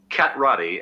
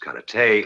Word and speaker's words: karate: on you your mistake cat Roddy as you call it correctly pronounced karate is a defensive form therefore